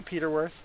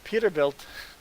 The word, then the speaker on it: Peterbilt: If you look in the Peterbilt history, it's a bird. I can't forget what bird. I forget what bird it is, but Peterbilt. Did I say Peterworth? Peterbilt. Great.